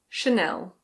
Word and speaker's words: Chanel: In English we say Chanel.